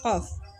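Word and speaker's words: ق: Kita ketika mengucapkan huruf qaf itu belakangnya ada fa sukun, qaf. Gitu nggih Bu nggih. Jadi ketika membacanya juga seperti itu. Qaf. Kita panjangkan dulu, kemudian dimatikan atau disukunkan dengan huruf fa.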